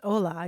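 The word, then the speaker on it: hola: if we wish yeah I'm thinking of Spanish too which start the word starts with an H although it's Ola you don't pronounce the h interesting pretty cool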